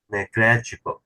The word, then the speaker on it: negligible: neg GL glit glit negligible negligible okay negligible put the emphasis on the first syllable NE neg neg neg